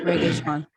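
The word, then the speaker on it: Regé-Jean: Reggae Sean. But when I think somebody said one time it's like pronounced like reggae.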